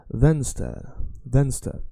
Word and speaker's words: vänster: So if you say, think about a van, a car, that's a van. And then that car is a star. Then van star. And that's how you remember the left. Vänster.